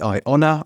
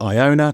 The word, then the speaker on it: IONA: It's called the IONA or IONA, depending on how you want to pronounce it.